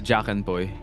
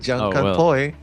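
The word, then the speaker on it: jak-en-poy: It's jakan boy. Jakan boy. Oh, all right. Something new we learned. Jan poi.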